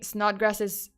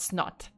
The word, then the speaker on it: Snodgrass: um so then by snodgrass's own account I can't say this name with a straight face not grass I don't know why oh by the way this is spelled s-n-o-d-g-r-a-s-s not snot OT um okay so